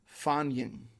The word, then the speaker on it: Fagning: Norse, not modern Norwegian, the title is, I believe, pronounced Fagning. I believe is the correct pronunciation.